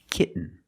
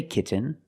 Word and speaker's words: kitten: it to the N example kitten you can say kitten but most people say kitten you do the stop te kit you don't release and then you fall to an nend K when you